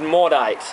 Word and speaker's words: Maudite: be the unibrew motif i think that's how we pronounce it modit or is it more diet that's more of an english american type of way of pronouncing it really cool label